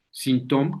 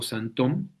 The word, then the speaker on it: Sinthome: Entonces, voy a comenzar, digamos, 20 años atrás del seminario del Sintom, que yo siempre digo Santom. Veremos por qué se dice Sintom, Santom, es como se pronuncia, por qué prefiero utilizar la palabra Santom.